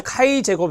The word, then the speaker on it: 카이제곱: 보입니다 카이제곱 통계 4 이걸 카이제곱 이라고 읽어요 카이 제거 통계량 입니다